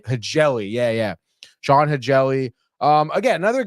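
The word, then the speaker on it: Hjelle: I think it's Hegeli? Hegeli.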